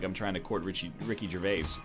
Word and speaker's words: Ricky Gervais: Like, it's not like I'm trying to court Ricky Gervais. Richie Gervais, that's just a Terrible mispronunciation.